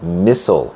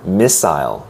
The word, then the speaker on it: missile: Our first word is missile or missile. Both pronunciations are used.